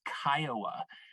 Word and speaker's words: CCIOA: as ccioa or as kiowa it's pronounced like the city um or the indian tribe but that stands for